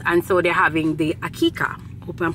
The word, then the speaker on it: Aqiqah: see gole my pronounce things so it is pronounced AK akika right now it's basically this my coworker is